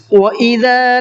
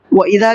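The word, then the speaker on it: وإذا: لا يعلمون، لام کو بھی کھینچنا ہے، لا يعلمون۔ وَإِذَا لَقُوا الَّذِينَ آمَنُوا قَالُوا آمَنَّا، وَإِذَا کے ذال کو تھوڑا سافٹ پڑھنا ہے، لَقُوا الَّذِينَ میں قاف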